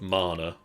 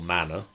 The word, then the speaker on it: mana: well as the rune of mana or manner depending on how you want to pronounce it and then there is